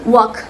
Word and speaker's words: walk: Eh, contohnya kalau bahasa Inggrisnya jalan adalah wena silent leather jadi dia dibaca walk.